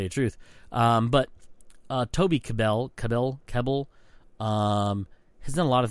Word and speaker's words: Kebbell: I always say Cabal, but it's not right. It's Kebbell, which is Kebbell or Kebbell.